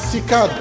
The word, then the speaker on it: CICAD: Ce centre magnifique, édifié sur 58 hectares, miroir de Baobab qui s'appellera désormais Centre international de conférence Abdou Diouf, qu'on prononcera CICAD, s'il vous plaît.